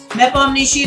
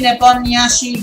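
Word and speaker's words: Nepomniachtchi: plays this a lot nepal nishi nepal nyashi both are the right pronunciations of his name and uh it's very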